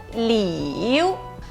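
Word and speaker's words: 柳: E a última palavra é o ideograma da árvore salgueiro chorão e ele tem a pronúncia de liu.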